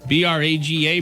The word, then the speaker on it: Braga: Let's see if I can pronounce this. Braga, B-R-A-G-A, Braga.